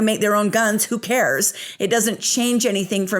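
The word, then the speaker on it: Kahr: guns the company is called Car Firearms group and it's headquartered in grey Pennsylvania it's spelled k ah HR the gun company is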